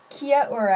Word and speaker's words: Kia ora: good day good day Kia Ora actually that is how they say it in Mari um so this is